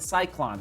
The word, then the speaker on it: Cyklon: did i say the name the last the cyclone that's the name of the shoe so this is how you spell it c y k l o n c